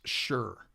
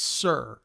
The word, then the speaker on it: Sr: guitars that I play they're not pronounced sure and I don't know where that started because if you look on the headstock it's Sr not sh you right so it's not sure it's sir like yes sir Sr that's